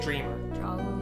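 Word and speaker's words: Dreemurr: The name is pronounced Dreamer. Rosie. Oh, no, it's fine. Because the thing is that you don't ever have it said to you, but it's pronounced Dreamer because they do it that way for the kind of like the wordplay.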